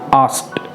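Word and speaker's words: asked: जैसे कि आस्क्ड, यहाँ पर टो वाली साउंड आएगी।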